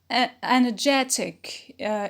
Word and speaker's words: energetic: it is not stressed energetic is an adjective it is stressed on j on the penult because of the ick rule on the pinalt performance is a noun